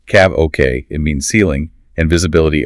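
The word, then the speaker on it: CAVOK: KVU, pronounced CAV OK, it means ceiling, and visibility OK.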